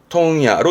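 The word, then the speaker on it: 問屋: 요거 발음은요. 통야로 읽어요. 이게 특이한 케이스인데요.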